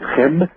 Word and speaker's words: Khemit: civilization, as you mentioned, called Khemit or Khemit. Actually, it's Chem, to pronounce it correctly, and the Arabic term,